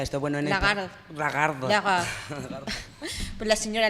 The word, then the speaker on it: Lagarde: ¿Cómo que se pronuncia esto? Bueno, en Lagarde.